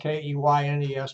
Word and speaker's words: Keynes: This gentleman, John Maynard Keynes, you notice it's spelled K-E-Y-N-E-S, but he pronounced it Keynes. It's like a candy cane.